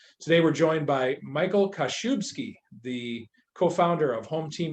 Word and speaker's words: Kaszubski: business with and today we're joined by michael kashubski the co-founder of home team mobile diagnostics i